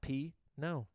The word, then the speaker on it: Pino: right the first time my last name is pronounced p no okay so that was